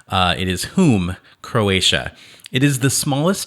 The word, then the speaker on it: Hum: what i mean visit whom it's spelled hum so you might pronounce it hum uh it is whom croatia it is the